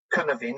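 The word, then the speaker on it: Cynefin: pronounce it incorrectly because it's based on Welsh and so that's not my language but I think you pronounce it spell c-y-n-e-f-i-n and carnivin and it's a framework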